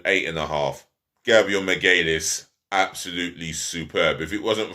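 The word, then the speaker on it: Magalhães: respect on your name for those of you that don't know how to say his name properly his full name is gabrielle del santos miguelis and he's getting a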